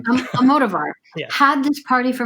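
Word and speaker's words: Almodóvar: Almodovar.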